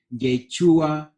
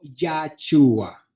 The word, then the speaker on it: Yeshua: El verdadero nombre de él es Yeshua o Yahshua. Usted escuchará las dos pronunciaciones.